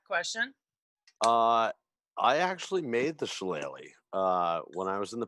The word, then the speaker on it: shillelagh: And how do I pronounce it? Shillelagh.